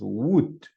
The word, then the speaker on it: would: this case this way it's pronounced wood the El and the O they are not going to sound it's going to sound